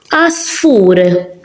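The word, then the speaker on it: għasfur: Asfur, ein in the beginning, it's silent. Bird, asfur.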